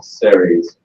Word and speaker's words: Ceres: So, what is Ceres? That's how you pronounce it, by the way.